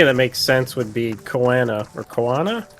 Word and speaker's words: Koana: makes sense would be Koana or Koana. Kona. Kona? They just say Kona. So Kona? Unless I'm missing the pronunciation of the first A, it sounds like they're just saying Kona.